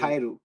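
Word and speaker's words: 帰る: খায়েরু, কায়েরু, উচ্চারণ হবে খায়েরু।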